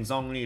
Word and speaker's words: Zhong Li: few comments, guys, that I'm not pronouncing Zhong Li like a proper China boy that I am. And I'm sorry, guys, my Chinese is not that good. So my wife will do the honors of pronouncing it properly.